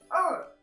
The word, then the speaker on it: 二: special syllables again it's pronounced as er er er in fourth tone the shape is two